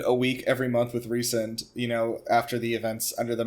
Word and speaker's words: Rhysand: They say Rhys-and in the audio drama. It's like super. Oh, the Jennifer accent, does the same. Yeah, the accent is on the and.